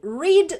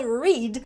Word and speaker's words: read: Aqui atenção para a pronúncia do verbo read no passado. Ele tem a mesma grafia. No presente a gente fala read. No passado a pronúncia é read.